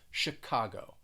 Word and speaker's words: Chicago: this city is that the ch you're going to pronounce it kind of like an sh it's not a ch sound it's a shh sound and the stress is on that second syllable chicago chicago let's move over to